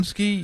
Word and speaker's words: Podziemski: Podziemski, yeah.